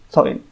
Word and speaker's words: Samhain: Tapi setelah saya cari-cari di Google juga ada, dia orang cakap dia punya sebutan adalah Samhain, S-A-H-W-I-N. Dan ada juga yang sebut Samhain.